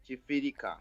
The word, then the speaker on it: Kifirika: And how do you pronounce it? Chifirika.